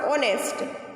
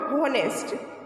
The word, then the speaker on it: honest: on honest boy here the word honest begins with consonant sound h but h is muted here so we will pronounce honest not honest so for honest we